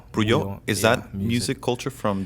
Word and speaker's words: Bouyon: Bruyo or Buyo? Buyo.